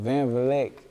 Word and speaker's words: Vleck: Am I pronouncing this right? Yeah, Vleck.